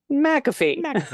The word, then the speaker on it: McAfee: McAfee last name is pronounced McAfee like the antivirus McAfee people have messed up